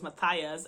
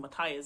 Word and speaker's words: Matthias: like pronounce names because I always thought the name was Matthias, and I watched a video recently for Leigh Bardugo's pronunciation in Six of Crows, and his name wasn't Matthias, it's Matthias, which is a more Portuguese way to say the name than in English.